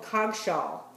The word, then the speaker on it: Cogshall: soft and ready to eat so that's called cog shaww c o g s h a l the